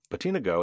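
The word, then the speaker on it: BotenaGo: millions of routers and iot devices end quote patina go and that's spelled b-o-t-e-n-a-g-o and the go part there by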